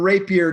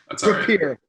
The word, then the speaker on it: Rapier: special guest mr rapier did i pronounce that right it's it's repeater i apologize i should